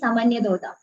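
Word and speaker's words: Sāmānyatodṛṣṭa: The spelling is like an R is there, but the pronunciation is Samanyadoda.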